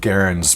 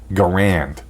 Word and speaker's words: Garand: publicly his stated that his name rhymed with errand which is why I pronounce it that way the US military however decided his name should be pronounced Garand and that's how his